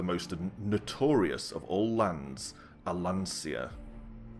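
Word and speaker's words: Allansia: notorious of all lands alancia which is how i pronounce that i suppose i could pronounce it alan sear considering my name i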